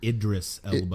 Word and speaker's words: Idris Elba: It's the spinoff from the Fast and the Furious, and it's got how do we pronounce his name? Is the Elba? Isra Elba? I forget. Idris Elba.